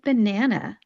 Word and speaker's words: banana: You want to make sure you are not stressing that last syllable, and because it is not stressed, you need to turn it into a schwa sound.